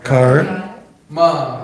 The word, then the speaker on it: karma: one word, first syllable, Car. kar, Ma.